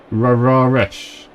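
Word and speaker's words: Rareș: Raresh. Raresh, really? That's... I pronounce it or everyone? Is that how we're pronouncing it? Raresh. I'm trying to think what culture pronounces the S's like sh.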